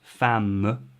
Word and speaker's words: femme: how fam became muf the last syllable is m if fully pronounced fam and they've taken that